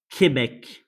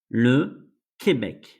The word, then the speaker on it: Québec: And the sound is like K or the C with the pronunciation K. So it's Q. Here we have the word Québec. Le Québec. The name of the province.